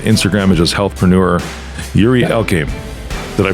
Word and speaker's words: Yuri Elkaim: Yuri Elkaim. Did I pronounce it right?